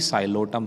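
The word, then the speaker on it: Psilotum: हैं इसका एग्जांपल भी साइलो सम है आप ध्यान रखिएगा कि दोनों में पी साइलेंट है और फर्स्ट वर्ड भी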